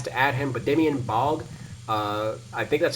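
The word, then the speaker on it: Baugh: cuz 2K has to add him but Damian bog uh I think that's how you say his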